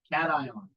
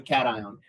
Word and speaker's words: cation: And so I actually thought it was pronounced cation for a long time, like vacation.